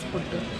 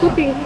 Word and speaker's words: puttu: made puttu and Ellen kept on saying puttu putti, puttu putti, and the kid was like, no, you're not pronouncing it right. They have not watched that episode, do watch that episode. So he's made puttu in this.